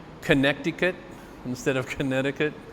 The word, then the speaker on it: Connecticut: of some people in connecticut connecticut why don't they say it the way it's spelled are kansas versus arkansas connecticut instead of connecticut it's